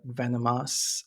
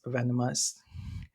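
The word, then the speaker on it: Venomhaus: under uh Venom house it's spelled like Venom v n o m but the house is h a u when you say it fast then it's like venomous venomous didn't create the the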